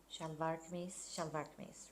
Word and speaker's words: shalwar kameez: I'm gonna pack up my stuff to go home with like all my fancy new shalwar kameez. Is that how you say it? Shalwar kameez, right?